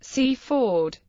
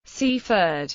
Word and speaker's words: Seaford: well as for London the traditional Sussex pronunciation of the name has a full vowel in each syllable cfd C ford however outside Sussex it